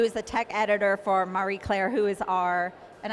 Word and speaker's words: Marie Claire: a tech editor for Marie Claire who is our and I keep pronouncing it wrong i know but i keep going maria and someone corrects me